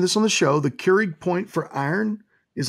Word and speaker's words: Curie: Is it Keurig point? Yeah, I never spell it right. It's Keurig. Like the coffee maker?